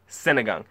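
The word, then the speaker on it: sinigang: Filipino dishes I ever had was synagog that is spelled s i n i g a n g synagog more specifically synagog neab boy which means pork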